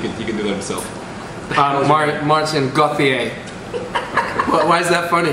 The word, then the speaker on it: Maarten Goetheer: I don't know how to pronounce his name. He can do that himself. Maarten Goetheer.